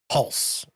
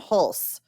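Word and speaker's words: Hulce: Pulse. Tom Hulse, who played Wolf Gang Amadeus Mozart.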